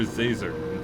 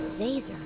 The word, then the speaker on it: Zazer: It's Professor Zazer, like laser with a Z. How hard is that? Zazer.